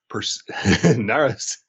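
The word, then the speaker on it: Narasimhan: by the fantastic nitia pers naras who i always remember because it rhymes with persimmon that's the trick it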